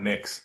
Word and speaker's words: Mx: the gender neutral mx i pronounce that mix how else how does